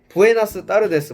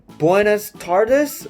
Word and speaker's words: buenas tardes: 그래서 이걸 한국인들이 한국식으로 발음하면 부에나스 따르데스 뭐 이렇게 되긴 하는데 발음을 좀 힘들어하는 미국인들 같은 경우에는 부에나스 타르데스 뭐 이런 식으로 발음을 해요.